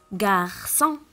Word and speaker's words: garçon: Le mot suivant, on a la cécédie. Donc, je vais la prononcer S, garçon. Et je vais le mettre aussi dans la colonne de gauche.